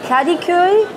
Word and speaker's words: Kadıköy: right i'm gonna butcher the name so it's kadi-kui how do you pronounce it miss chocolate yeah okay perfect thank